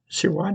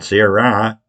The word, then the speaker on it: Sirois: Sirois didn't know that the course record at Detweiller was for 1553.8. I know it. But it's pronounced Sirois. That's not Sirois. Sirois. French. Very French.